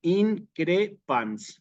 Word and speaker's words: increpan: parecidas y Y entonces que el acento va justamente en la penúltima sílaba Aunque aquí lo ponga en la en la antepenúltima increpan entonces increpan allí va propiamente el el acento sí les pido un